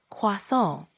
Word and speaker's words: croissant: Croissant. Pretty close. Try emphasizing the nasal sound at the end a bit more, like croissant.